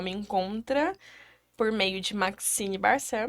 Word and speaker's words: Maxyne: encontra por meio de maxine barcel meu nome é diferente sobrenome também mas se escreve ma x yne maxine já dá para já